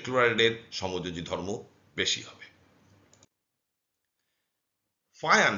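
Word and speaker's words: Fajans: ফায়ান, বিজ্ঞানী ফায়ান, এটাকে ফাজান অনেকে বলে, কিন্তু স্প্যানিশ ভাষায় বা ল্যাটিন ভাষায় এই যে যেটার একটু ইয়া টাইপের উচ্চারণ হয়, এটাকে ফায়ান রুল বলে।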